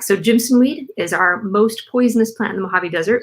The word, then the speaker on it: jimson: often all right so jimson weed is our most poisonous plant in the mojave desert one not to touch so it's spelled like jim and sun like a j-i-m yeah go in don't